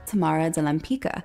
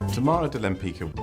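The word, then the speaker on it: Tamara de Lempicka: difficult to pronounce or Tamara Wempitska is getting mispronounced like 90% of the time Tamara Delampica Tamara Delampica Tamara Delampica just get it right or Kosciuszko's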